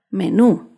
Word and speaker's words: menú: Menú se acentúa en la última sílaba, menú.